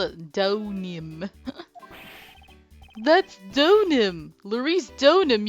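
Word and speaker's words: Larice Deauxnim: Larice Donim! You gotta, like, pronounce it all French and stuff.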